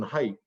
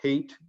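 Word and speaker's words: Haidt: or an interview that was done with jonathan height uh or hate uh as uh he pronounces it and i guess i should pronounce it that way too but jonathan hate the social psychologist who um for a ted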